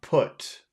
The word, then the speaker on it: put: fo put put okay that is a vowel that you must eat okay you have to push that down your throat don't don't try to push it out of your mouth try to push it down your throat you have to feel it going down into your throat put it goes down